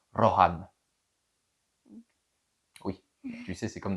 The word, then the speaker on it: Rohan: Moi le premier le Ran, le pays des seigneurs des chevaux. Mais techniquement ça se prononce Roran.